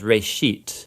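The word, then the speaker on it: ראשית: It's pronounced reshit, and it just means beginning.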